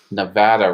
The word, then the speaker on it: Nevada: Nevada rhymes with Savannah.